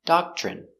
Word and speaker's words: doctrine: C doc CH doch remember when you have TR together it makes the chicken sound CH so again doc doc